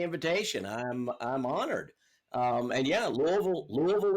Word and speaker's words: Louisville: And yeah, Louisville is how you say it if you're native.